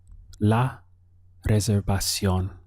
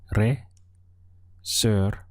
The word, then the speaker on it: reservación: It would be la reservación. We have 4 syllables there. Let's count them. We have reservación. La reservación. To say my reservation would simply be mi reservación.